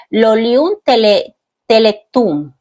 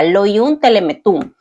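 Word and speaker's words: Lolium temulentum: Dice, la cizaña tiene un nombre botánico que es Lolium teletum. Temuletum, perdón, así se pronuncia, Loium telemetum.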